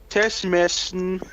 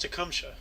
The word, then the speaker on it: Tecumseh: In 1820, we have William Teshmesh Sherman. General Sherman. This is General Sherman, U.S. Army general during the American Civil War. Sherman's march to the sea. Yeah, his middle name is pronounced Tecumseh, by the way.